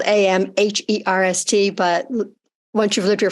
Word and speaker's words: Amherst: it's and it's spelled am h-e-r-s-t but once you've lived here for a while it's pronounced Amherst and you skip the H but actually living here